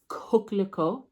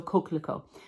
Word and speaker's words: coquelicot: So I picked coquelicot. I had my daughter teach me how to say this because it is French. It's from Reflet des Soies. So coquelicot, which I found out